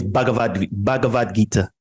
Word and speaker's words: Bhagavad Gita: Oh, I don't know how to pronounce it correctly. It's Bhagavad Gita.